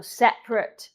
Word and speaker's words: separate: Y entonces es una palabra que comemos la A ahí y decimos, acentamos aquí, separate. Esa A no se pronuncia.